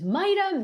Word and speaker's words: Mita: It's Mita."